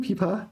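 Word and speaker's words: 枇杷: So there's two words that are pronounced the same. Pipa. Fourth tone, right? Sorry, second tone. And the instrument pipa is also second tone, second tone.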